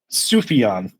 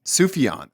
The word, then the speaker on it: Sufjan: How do you pronounce his name again? His first name? Sufjan. Sufjan.